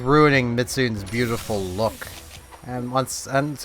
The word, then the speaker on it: Mizutsune: again as i mentioned i know it's mitsune but mitsu midsoon is what i initially read it as and it's just what i learned that monster's name as i know i'm saying it wrong but you all know